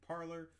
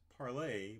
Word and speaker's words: Parler: it parley is it parlor it's officially started out as parlay but as people didn't